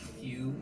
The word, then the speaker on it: HU: Within Ekankar, the term Hugh means God, and it's spelled H-U and is pronounced Hugh.